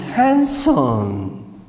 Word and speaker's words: handsome: I can say that this football player, you say, the football player is handsome. Handsome in English es bien parecido, but you have to know that you don't pronounce the.